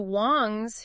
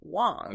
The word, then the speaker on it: Wong: and Wang transformed into Wong okay so over time over centuries yeah through waves of migration and cultural exchange Wong became the Cantonese pronunciation exactly for both hang